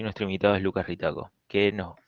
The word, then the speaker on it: Ritacco: Esta es la primera edición de los seminarios que estamos organizando y nuestro invitado es Lucas Ritaco, que no, se pronuncia así, Ritaco, ¿no?